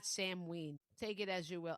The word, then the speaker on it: Samhain: Okay, here's the other pronunciation of Samween, which makes me sound like an ass if it's right. And I said the other way all wrong. Are you ready? The other pronunciation is so win or sin. Sin H is s is sa right like a sa okay so sa win sin that is the way I have heard it in the past not